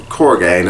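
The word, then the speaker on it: Kurogane: There is also, we get introduced to Korgane, I think is how his name's pronounced, who's pretty much just a ruthless, they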